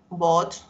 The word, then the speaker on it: bought: Buy, bought, bought, ¿verdad? Ese GHT se lee solo como una T. Bought, ¿verdad?